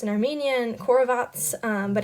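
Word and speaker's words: խորոված: in charge of preparing barbecue it is actually pronounced in armenian corvats but it's like the skewers type of thing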